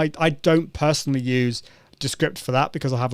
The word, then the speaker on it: Descript: And that's Descript is spelled D-E, how do you spell it? D-E-S-C-R-I-P-T. So it's like script, but with D-E at the beginning of it.